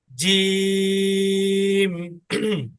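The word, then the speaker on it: جيم: দেখো জিমটা যখন উচ্চারণ করব, আমাদের জিহ্বার যে মাঝখানটা আছে মধ্যভাগ, ওইটা উপরের তালুর সাথে লাগবে।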